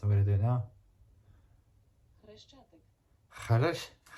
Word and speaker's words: Хрещатик: Хрещатик. Kharesh. It's spelled as Khareshchatik or Khareshchatik is the main street of Kiev, the capital city.